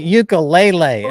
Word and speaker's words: ukulele: keep playing the the ukulele because that was pretty amazing to see why do you say ukul lelay it sounds ukulele lelay who the hell are what the that's the Hawaiian pronunciation ukulele ukulele it's like